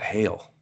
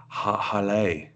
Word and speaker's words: Haille: To any normal person, they might call that Hale, but it's Hale, Hale.